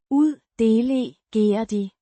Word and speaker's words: uddelegerede: Pronounced. uddelegerede, With a soft de, sound, it's the past tense of the verb, uddelegere, to delegate, indicating an action of assigning responsibility.